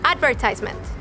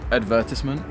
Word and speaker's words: advertisement: I'm gonna say this word in the American way. Advertisement. You say it in the British way. Advertisement.